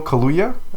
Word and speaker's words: Kaluuya: Daniel Kaluuya, I believe his last name is pronounced.